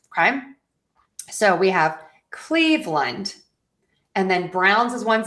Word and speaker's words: Cleveland: Doesn't matter as long as you unstress that ending of the Lund. Okay? So, we have Cleveland and then Browns is one syllable.